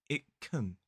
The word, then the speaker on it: can: words, and of course the modal verb can, in its weak form, can also be pronounced with a schwa. Listen to what I said. It can be pronounced. It can.